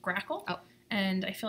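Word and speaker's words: GRACoL: I'm just gonna interject it's pronounced crackle oh and I feel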